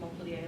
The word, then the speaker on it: Montpellier: I was at a university in France called the University of Montpellier, like Montpellier, Vermont.